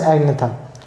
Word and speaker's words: agnatha: They are known as agnatha, whereas some are with jaws, and those with jaws are known as gnethostomata. G is silent in both the words.